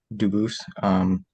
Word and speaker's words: Dubus: I know a family with the same exact spelling in America, and they do pronounce it Dubus, but you said you pronounce it Dubus, Dubus? as the original Dubus, as the original French.